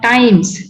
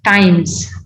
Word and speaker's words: times: It's not times, it's times. Z sound.